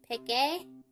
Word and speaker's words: Peke: I think this is my character, Peke. That's how her name's pronounced, and it's like a